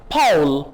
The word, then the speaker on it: Paul: पॉल या पाउल PAUL यानी AU को आप आओ कह के प्रोनाउंस करेंगे.